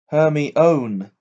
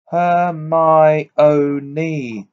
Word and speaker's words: Hermione: say her name properly he kept calling her hermie own her my own knee she said slowly and clearly her her own ninny